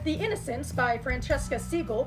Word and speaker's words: Segal: the innocence by Francesca Segal which I believe is the more British way about pronouncing her last name which is a modern-day